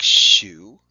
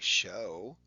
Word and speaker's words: shoe: Like shoe, we don't say show.